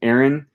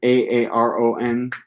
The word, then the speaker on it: Aaron: My own name is Aaron. I pronounce it exactly identical to. So my name is Aaron. I pronounce it identically to.